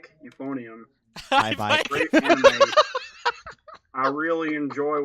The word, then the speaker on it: Hibike: Hibike.